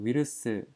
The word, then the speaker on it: ウイルス: 신型코로나에다가 위르스, 우리한테는 좀 어색한데 바이러스를 일본에서는 위르스라고 합니다.